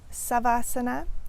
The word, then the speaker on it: Savasana: understanding of it is that Savasana comes from more of a southern dialect in India, and Shavasana is more of a northern dialect.